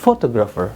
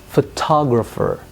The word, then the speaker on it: photographer: Nah, ketika lihat kata photographer itu yang ditekan ternyata adalah pada syllable kedua. Jadi bukan photographer, bukan. But photographer. I want to be a photographer.